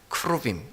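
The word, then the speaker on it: כְּרוּבִים: 그래서 막 웃었는데 이 그룹들이라고 하는 말은 크루빔이라고 하는 히브리어를 그냥 발음대로 우리 말로 이렇게 써놓은 거예요. 크루빔.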